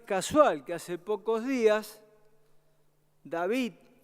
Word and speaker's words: David: que hace pocos días david y deivid martín es raro pronunciarlo porque es david martínez en mexicano pero se lo pronuncian así sí pero un